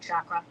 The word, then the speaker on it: chakra: is the moldara which is sript for root chakra chakra that's how you pronounce it I always want to say it